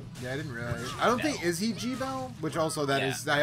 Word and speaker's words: Gebel: you're right okay like that is the correct pronunciation but it doesn't sound correct to me and I already gabble and they're like G Bell and I'm like wait what